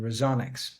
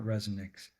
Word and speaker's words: Resoniks: Resonics, not resonix. Yeah, both works. It's uh resonance and acoustics basically combined in in one.